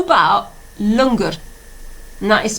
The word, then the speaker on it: langar: Okay, how about langar? And that is spelled L-A-N-G-A-R.